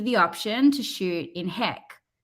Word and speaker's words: HEIC: HEC Okay.